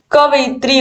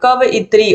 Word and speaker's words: कवयित्री: कवयित्री होता है, कवयित्री। और बच्चे क्या लगा के आते हैं? ये लगा के आते हैं, पूरी तरीके से गलत है।